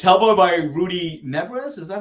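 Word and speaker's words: Nebres: book of no uh it's hellboy by rudy nebras is that how you pronounce his last name yes okay uh it's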